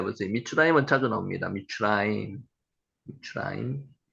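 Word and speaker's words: מִצְרַיִם: 미스라임 요거 읽으면은 한 여기 히브리어 발음이 미추라임입니다. 미추라임. 미츠라임 한번 해 보세요. 미츠라임은 자주 나옵니다. 미추라임.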